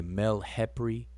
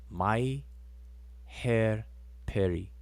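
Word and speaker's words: Maiherpri: word my uh well people say mel hepari or my heparin but it's um it's actually three words my hair peri peri is a field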